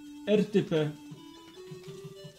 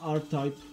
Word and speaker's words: R-Type: Jest to coś na styl RTP. Albo inaczej się to wymawia, R-Type.